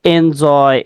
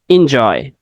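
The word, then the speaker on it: enjoy: জে ওয়াই আমরা বলি এনজয় এনজয় ঠিক আছে তো কারেক্ট প্রোনাউন্সিয়েশনটা কি কারেক্ট প্রোনাউন্সিয়েশন হচ্ছে ইনজয় কি ইনজয় আমরা অনেক সময়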